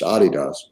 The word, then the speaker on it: adidas: founded adidas which is we mispronounced that american call it adidas that's really pronounced adidas um lee fetchers was